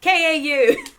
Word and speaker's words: Kow: It's not COW. Yes. I think, Yaga, you instantly recognize this particular creature as a Stench Kow. Yeah, KAU. What? Stench Kow. Stench Kow. It is spelled KOW, by the way, Al. It's Kilo Oscar.